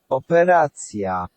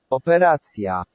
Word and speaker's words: operacja: Remember to roll the R a bit. Make sure that R's got a R. Opera. Operacja. Operacja.